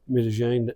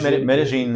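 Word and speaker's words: Medellín: a fond love of M Jane haven't you I can never say that right medine is is the local pronunciation yeah it's the it's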